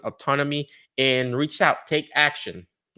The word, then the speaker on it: Optonome: Optonome, now I know it. I used to pronounce it Opton O or whatever. Now I know how to pronounce it, Optonome.